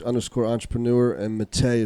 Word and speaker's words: Matej: h underscore entrepreneur and matteo spell m-a-t-e-j the j silent let's pronounce yeah yeah